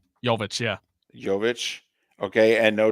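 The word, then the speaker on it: Jović: Well, remember, no Jimmy Butler, no, how do you pronounce his name? Jovic, yeah.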